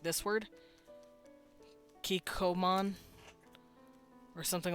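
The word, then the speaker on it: Kikkoman: like like this word kikoman or something like that this isn't pronounced Co it's it's stops a little bit it's like K Comm they do this like weird little stop so they recognize it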